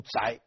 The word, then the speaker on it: 狄: 但是这一支的正确读音应该读宅，如果是恒姓狄氏读宅的，不读狄，但是今天都读狄了。